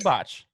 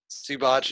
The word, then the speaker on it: Zubac: It's technically pronounced You're right. Zubac. Zubat.